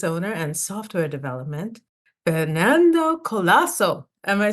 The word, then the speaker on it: Colaço: and software development Fernando colasso am I saying it correctly yes you are you actually said it with the the accent on the C which actually dropped a few years ago uh when I